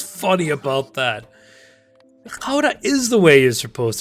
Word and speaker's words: Gouda: Gouda is the way you're supposed to pronounce that.